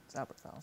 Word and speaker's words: Zauberfell: So the mining town, as it were, was Zauberfell, Zauberfell. See? 3 syllables.